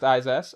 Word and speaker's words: Izas: Izas, who says name is just pronounced Izas. All right.